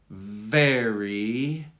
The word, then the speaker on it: very: you to emphasize it because the V needs an extra push. Ferry, very, ferry. Now the ferry is fine, but listen to how I accentuate very.